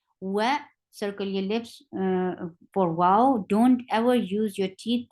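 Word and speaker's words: و: Wow has a articulation point of only the lips has to be circled. Only the lips has to be circled to pronounce wow.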